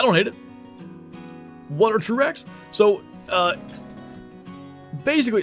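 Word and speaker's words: TRURACS: So uh basically it's um it's spelled T R U and then R A Cs. And I say that because it's an acronym. It stands for true random antler configuration system.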